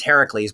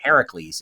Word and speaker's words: Heracles: out, thank you, Jillian, Heracles is the correct pronunciation, the Greek pronunciation.